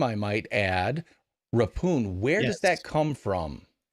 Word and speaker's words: Rephun: it was uh it was um changed to rapune although because it's so hard to pronounce people would pronounce it uh and so my dad really liked the